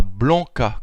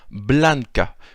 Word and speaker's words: blanca: Donc ici, nous avons nigra pour noir, blanca pour blanc, alors pas blanca comme on le dirait en français, mais bien blanca, puisque en espéranto, toutes les lettres sont prononcées.